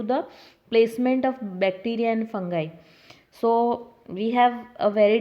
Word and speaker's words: fungi: So, the five kingdom classification includes Monera, Monera, Protista, Protista, fungi, Fungi, fungi.